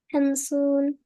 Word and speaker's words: خمسون: Hamsoon.